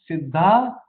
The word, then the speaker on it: siddha: the secrets okay now the word sidha sidha is with a long a it's not a it is not sidha it is sidha it is derived from